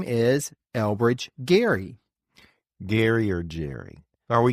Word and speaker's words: Gerry: the name which is g r r y pronounced as Jerry for a while it seemed like folks were